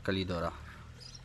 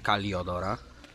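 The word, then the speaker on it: Calidora: A tutaj bezpośrednio do gruntu wsadzona kalidora. Napisałem kaliodora, jak jeszcze nie wiedziałem, jak to się fachowo wymawia. Kalidora, nie kaliodora. Tak samo portora, nie portodora.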